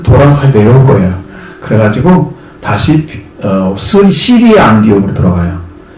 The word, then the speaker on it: 시리아: 그래가지고 다시 시리아 안디옥으로 들어가요. 시리아란 말은 영어식 발음이고 수리아란 말은 한자식 발음이에요.